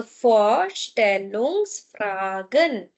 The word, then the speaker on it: Vorstellungsfragen: For V is F. So Vorstellungsfragen. Vorstellungsfragen.